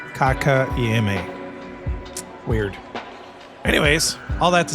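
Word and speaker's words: Kotkaniemi: Gets past Kakaniemi into the zone. Penalty coming to Detroit. Either way, I said it wrong like 4 times. I just double checked the pronunciation. It's Kotka Iame. Kotka Iame. Kotka Iame.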